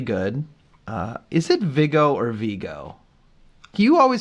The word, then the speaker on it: Viggo: Is it Viggo or Vigo? You always pronounce it Vigo. I don't know. It looks like Vigo to me. It does. It is spelled Viggo, but I have always heard it pronounced Vigo.